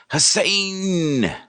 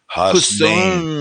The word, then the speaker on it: Hasnain: They read it and they think Hassan, but it's Hasnain. Hasnain.